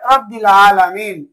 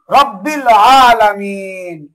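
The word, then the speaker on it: رَبِّ الْعَالَمِينَ: আরেকটা উদাহরণ দেখি আলামিন থেকে রাব্বিল আলামিন আল আলামিনের শুরুতে যে হামজাটা আছে এটাও হামজা জায়েদা পূর্ব মিলান সময় আর উচ্চারণে আসবে না শুধু লেখার মধ্যে বাকি থাকবে যেমন রব্বিল আলামিন রব্বিল আলামিন এখানে হামজার উচ্চারণ হয়েছে আল আলামিন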